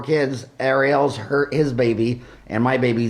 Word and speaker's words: Arielle: Arielle, like the Little Mermaid. Yep. She was born a year before the Little Mermaid. And what's funny is that Ed and I both have 4 kids. Arielle's his baby, and my baby, Zach, is filming us.